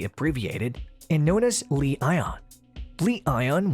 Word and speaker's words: Li-ion: Li-ion, when pronounced together, culminates to sound like the term lion.